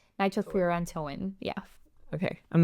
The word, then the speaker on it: nitrofurantoin: I actually said it wrong. It's not nitrofurantoin. It's nitrofurantoin.